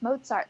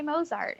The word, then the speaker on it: Mozart: it's our job to tell them it's mozart like pizza a lot of people say mozart and you shouldn't judge